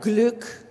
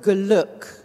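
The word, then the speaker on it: Glück: have a word like gluck to put a little tiny shadow vowel between the g and the le whenever you have two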